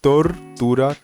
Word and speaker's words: tortura: Aqui, muita gente erra quando vai dizer ele quando tá antes de uma consoante, pronuncia aquele R em inglês, tá? Armando, tortura, terminado, tá?